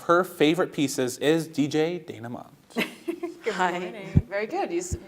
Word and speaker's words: Dayna Mont: Here to tell us all about some of her favorite pieces is DJ Dayna Mont. Hi. Very good. You pronounced it correctly.